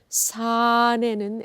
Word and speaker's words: 사내는: So when you go to 사내는, you do not have to give too much weight on second syllable 내는. So make it as a 사내는 as a one word, okay?